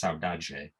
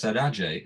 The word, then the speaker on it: saudade: And there's this concept in Brazilian music called, I'm not sure I can pronounce this word properly, but I think it's pronounced saudade, Saudade.